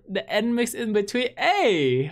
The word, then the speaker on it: NMIXX: Oh, it's they're pronounced Nmixx. Nmixx. So the N isn't silent. It's just Nmixx, right?